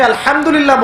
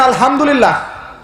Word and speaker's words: আলহামদুলিল্লাহ: হায়ে Houthi, এটাকে বলে বড় হা। উচ্চারণ কোথা থেকে করতে হয়? মাঝখান থেকে। মাশাআল্লাহ। এখানে যদি আপনি আলহামদুলিল্লাহ বলেন, অর্থ হচ্ছে সমস্ত প্রশংসা কার জন্য?